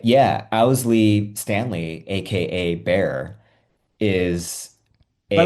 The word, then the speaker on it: Owsley: It's pronounced Owsley, right? Or was it Owsley? Owsley.